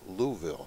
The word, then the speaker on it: Louisville: Or as the natives say, Louisville. Louisville. Louisville. Two syllables.